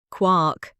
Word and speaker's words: quark: They have a name and the name is quark. Quark? Say it again for me. Quark. One syllable. Near enough rhymes with cork.